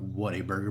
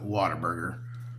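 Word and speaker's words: Whataburger: You know, you got what a burger, but we call it water burger. You know, like a water.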